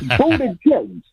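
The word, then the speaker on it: Buttigieg: pronounce Pete Buddha jig I call him Peak Buddha singam jig okay PE Buddha singam jig that's how to remember his name it's yeah it's it's it's budha Jigs and if you forget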